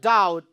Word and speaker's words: doubt: In the word doubt, ba letter is silent, so it is underlined.